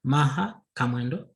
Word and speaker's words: Maha Kamwendo: uh my name is maha kamelo for the sake of others maybe in terms of a pronunciation let's see maha commando another name that's my